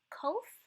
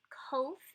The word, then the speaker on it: Kof: a P-shaped figure, but it's actually a Q sounding figure. And it's kind of like the Q in quit, right sound, or you can pronounce it like a K kind of sound in kite. It's that k sound.